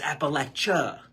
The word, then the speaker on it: Appalachia: It's kind of like when people call Appalachia, they call it Appalachian. It's Appalachia. Not with the N, it's Appalachia.